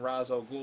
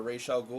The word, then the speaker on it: Ra's al Ghul: in two days then all of a sudden Ra's al Ghul or Rachele Ghul or mr. Ghul however you want to pronounce it shows up and he's off to